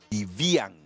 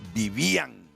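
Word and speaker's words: Vívian: Si yo leo así como está ese nombre, diría Vivian. No, lo que pasa es que si fuera Vivian llevaría el acento en la A y ahí lo lleva en la I.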